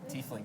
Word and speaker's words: Tiefling: We have 2 figures that we're giving out: the half-orc fighter and the is that pronounced Tiefling Rogue? Tiefling, yes.